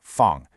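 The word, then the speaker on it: 方: This one is fun, pronounced fun.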